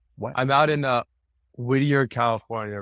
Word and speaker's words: Whittier: is that yeah what I'm out in uh Whittier California right now that's where my practice is at yeah okay okay so H how does being part of the the Whittier Community like how has that shaped how you